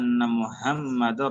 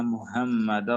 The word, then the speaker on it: Muhammad: Kemudian sama juga ya, kalau Muhammad itu emanya jangan dipanjangin. Kadang orang ditarik-tarik. Muhammad. Muhammad. Jangan begitu bacanya. Mudah, santai aja bacanya.